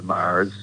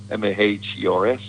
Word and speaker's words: Mahers: Like my dad formed the Mahers, and now we have the second generation of the Mahers. Yeah. Now you lost you pronounce it kind of like the Mars bar, M-A-R-S.